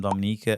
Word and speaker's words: Dominica: confuse it for the Dominican Republic but we are not we are Dominica there's a there's a slight difference in the pronunciation how we say Dominica um as you can